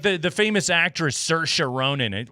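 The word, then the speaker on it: Saoirse: the the famous actress Cersa Ronin, like her name is spelled like S A O R S I and you're like, where the hell do you get in there?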